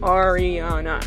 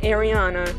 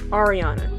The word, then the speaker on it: Ariana: just letting you know this is how you say ariana it's not ariel it's not ariana no no no okay it's ariana see i don't know